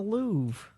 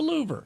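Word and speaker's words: Louvre: Uh the Louv Museum mispronouncing the Louve. Uh I I'm heard people say the Louver.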